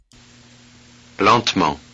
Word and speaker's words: lentement: And finally, the next word is lentment, so that middle E is not pronounced and should be longuement, I guess. Lentement. Oh, well, you pronounce the T.